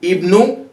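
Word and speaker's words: ابن: Ibnu Ammarin, Ibnu Ammarin. We can notice this Hamza, it is being pronounced as E at the beginning of Ibnu. So we say Ibnu.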